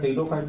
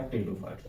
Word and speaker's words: Pteridophytes: गया और ये आपका टिडोफाइट्स हो गया जिसके अंदर हम लोग क्या करेंगे स्पोर बनाएंगे टिडो फाइट्स टिडोफाइट्स में पी साइलेंट होता है याद रखना है